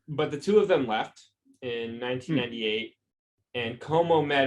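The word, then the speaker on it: Lefebvre: b v r e generally you don't pronounce the b though it would be le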